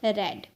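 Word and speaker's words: read: बिल्कुल सेम होती है लेकिन इसे प्रोनंसिएशन होती है रेड ठीक है रीड रेड रेड तो ये थर्ड फॉर्म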